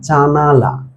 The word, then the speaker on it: জানালা: কিন্তু আমরা উচ্চারণের সুবিধার্থে যেমন ধর শব্দটা হচ্ছে জানালা। কিন্তু আমরা উচ্চারণের সুবিধার্থে আমরা এই ন এর যে আকারটা এই আকারটাকে আমরা উচ্চারণ করি না। তার ফলে আমরা উচ্চারণটা কি করি? আমরা উচ্চারণ করি জানলা।